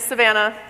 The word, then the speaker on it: Savannah: thing I will say my name is Savannah like Georgia like the African grasslands not to be confused with Samantha as many folks do all the time story of my life